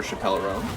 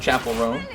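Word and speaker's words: Chappell Roan: Chapel Roan. I keep saying her name wrong. And that's, it's literally all Dave Chappelle's fault. Because I see the spelling of Chapel's name. Obviously it doesn't have the E on the end, but it's pretty much the same.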